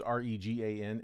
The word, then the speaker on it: Regan: My last name is Regan, and I get called Reagan all the time, and it drives me crazy.